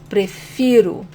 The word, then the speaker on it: prefiro: So again, this is eu prefiro, and the stronger syllable is fi, eu prefiro.